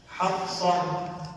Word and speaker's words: حفصہ: اس سے میں آپ کو ایک مثال, ہمارا بہت بڑی غلطی پتہ کیا ہوتی ہے, حفصہ, ہا فا صاد اور ہا.